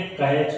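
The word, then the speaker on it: catch: ये कैच आता है, तो इसमें सी ए सी एच कैच पढ़ा गया, टी क्या हुआ साइलेंट हो गया, क्योंकि इससे पहले सी एच आया है। हमने कहा ये देखो सी एच है, अगर ये आया हो तो ये टी साइलेंट हो जाएगा।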